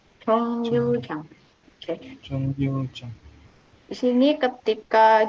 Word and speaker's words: 정류장: Cara baca yang benar 정류장. 정류장.